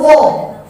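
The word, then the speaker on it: ر: Kita lihat dulu ro. Cara pengucapan ro. Ro itu jangan dicari isti'la'nya, tapi langsung pada awalnya. Ro. Adapun bunyinya itu ingat kaidah awal tadi, mutaharrik dia nampak pada awalnya.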